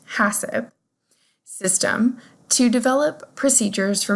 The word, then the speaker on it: HACCP: Many operations use a Hazard Analysis Critical Control Point (HACCP pronounced “hassip”) system to develop procedures for managing identified food hazards.